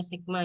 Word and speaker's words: sigma: Kemudian untuk satu varians, ini sigma kuadrat sama dengan, ini bacanya sigma ya, bukan to.